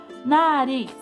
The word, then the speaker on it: nariz: Nariz. Nariz é a sílaba tônica. Lembra que ela tá na última, ó, a última sílaba? Então, ela é uma oxítona.